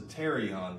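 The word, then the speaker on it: pterion: we've got is the terion the p is silent um so pte R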